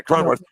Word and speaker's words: Cronenworth: Yeah, Cronenworth.